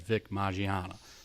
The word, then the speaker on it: Vic Mignogna: news about vic Mignogna I'm pretty sure I'm saying it right because I looked up a video with him talking and introduced himself he said vic Mignogna so I think I